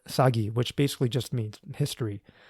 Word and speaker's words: 사기: In Korean, they call it sagi, which basically just means history.